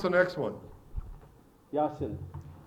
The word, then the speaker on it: Jacinth: How do you pronounce the next one? Yasin. Jacinth, and how do we say it today?